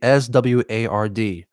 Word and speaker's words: sword: I'm not mispronouncing sword. It's actually SWARD, sword.